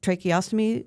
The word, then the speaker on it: tracheostomy: explain to people what exactly subglottic stenosis is, and what a trach or a is it tracheostomy? Is that correct? Am I pronouncing it right, or is it something else? Yes, correct.